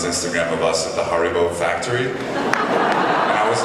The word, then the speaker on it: Haribo: post on his Instagram of us at the Haribo factory. And I was like so excited to be there. And when I was coming to Bonn, I didn't realize that this is the home of Haribo. Am I pronouncing it correctly?